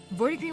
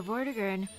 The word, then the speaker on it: Vortigern: What would a soft G be at? Man, when it comes to like the G sounds, it's so difficult. Your Vortigern failed because he couldn't cross that line. Oh, it's a J sound.